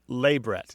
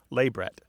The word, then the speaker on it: labret: me practice it lebret labret yeah stress on the first syllable labr labret wow and it justes